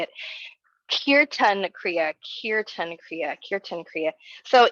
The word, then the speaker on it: Kirtan Kriya: Today I have a specific Kriya called, I want to check the pronunciation before I just say it, Kirtan Kriya, Kirtan Kriya, Kirtan Kriya.